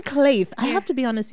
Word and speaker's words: Kleith: Yeah, because, you know, when you're trying to pronounce it, it has a different pronunciation and a different spelling as well. So it's just Kleith.